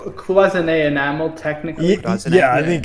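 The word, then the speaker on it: cloisonné: says no it's not cloisonne is not pronounced khaleesi that's what i thought so oh yeah it's closing a enamel technically yeah i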